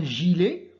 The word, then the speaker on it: gilet: qu'on va dire un gilet oublier un gi les regarder bien après le g nous avons donc on prononce et gillet et on l'écrit dont